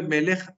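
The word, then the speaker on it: מלך: Entonces, claro, miren, antes el acento de melech, ¿dónde estaba? No estaba ni siquiera en la sílaba final, sino que estaba en la penúltima sílaba, porque esta es una palabra peculiar.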